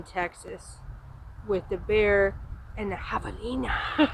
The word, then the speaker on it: javelina: and have a Nena which we had been calling javelinas the whole time and then a viewer of the channel actually you know terrific them you're not allowing it correctly you know that's the Mexican pronunciation or the Spanish I'm sorry pronunciation javelina we saw stood that